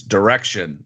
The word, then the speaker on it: Direxion: It's direction." Like, don't don't pronounce the X.